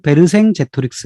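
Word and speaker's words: Vercingetorix: 자 여기서 등장하는 사람 벨킨 레트로 쓰 불어 발음으로는 베르 생재 트릭스 라고 하는 인물입니다 자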